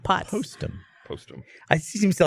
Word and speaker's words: Postum: A whole conversation based around the spreading of lies, and you pronounced it wrong, and now we all think it's called Potsum.